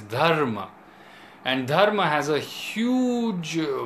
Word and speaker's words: Dharma: I can think of this Dharma we say Dharma Dharma or something like that but the way it is pronounced in Sanskrit is Dharma and Dharma has a